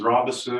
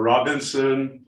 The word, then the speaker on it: Robison: classroom, I would say, my name is Robison, and it's spelled Robison. It makes no difference if you call me Robison or Robinson or Robison. So I appreciate your introduction, and the pronunciation of my name makes no difference to me.